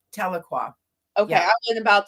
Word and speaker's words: Tahlequah: So, and it's Tahlequah. Okay, Yeah. I wasn't about to butcher the name of that.